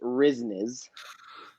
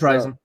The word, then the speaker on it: RYZNYZ: and say it is it is pronounced risnes no it's rising hold on where's that